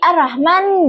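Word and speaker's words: الرحمن: Huruf H kecil yang makhrajnya itu ditenggorokan tengah getaran lebih lemah dari H besar. Kesalahan yang sering terjadi itu seperti pengucapan hak kecil seperti hak besar sehingga terdengar arrahman menjadi arrahman dengan ha kuat. Contoh baca yang benar arrahman dan arrahim dengan hak kecil yang lembut dengan jelas.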